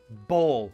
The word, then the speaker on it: bawl: So a big cry, the verb bawl is very good. Pronunciation is the same as a ball.